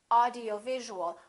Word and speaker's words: audiovisual: word like this, audiovisual, audiovisual has 6 syllables, audiovisual. In that case, it's very important to know which syllable is stressed. In this case, it's going to be right here, audiovisual, audiovisual. How do we stress a syllable? We make it longer and louder and higher in pitch, audiovisual.